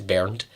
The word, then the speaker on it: Bernd: It's Bernd.